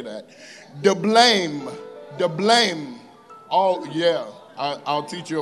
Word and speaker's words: Diblaim: Hosea married Gomer, the daughter of Diblaim. That's definitely not how you say that. Diblaim. Oh, yeah. I'll teach you about it later. The emphasis is always on the second syllable in Hebrew.